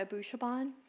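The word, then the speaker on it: Abushaban: could you please state your name and spell it also for the record abou Chabon RA and DA last name a BU sha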